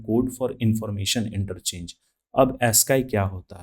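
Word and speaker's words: ASCII: हम लोग देखते हैं ए एस सी आईआई यानी इसे प्रोनाउंस किया जाता है एस्का का पूर्ण रूप क्या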